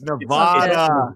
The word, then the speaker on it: Nevada: like, "Brian needs to look up how to pronounce the state of Nevada." Fuck you! It's Nevada. It's definitely Nevada.